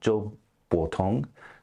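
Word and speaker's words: Zhou Botong: meets The Prisoner uh Joe botong I believe is how you say his name um could have the um tones wrong there but uh he's my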